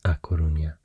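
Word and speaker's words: A Coruña: a lot and uh the Galan name for this province is aunia and the castian name is launa and I think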